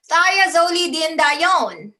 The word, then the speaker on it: thiazolidinedione: Thiazolidinedione. Thia, you broke it down right. Thia represents sulfur. Sulfur in the chemical component. Thiazolidinedione, not Celine Okay, but